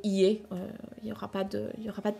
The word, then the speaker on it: 家: a les furigana au-dessus pour vous aider à savoir si l'auteur il voulait vous faire lire ie ou bien uchi. Soit après, soit vous pouvez décider en fait si vous lisez l'un ou l'autre, soit sinon, voilà, vous pouvez le lire par défaut ie, il n'y aura pas